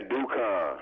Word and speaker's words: Dukan: Yeah, Dukan. Dukan, that's how you pronounce that.